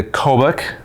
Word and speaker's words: Kobuk: Their brand new pack, the Kobuk. Did I pronounce it correctly?